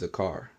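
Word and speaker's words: זכר: How you pronounce it is zakar.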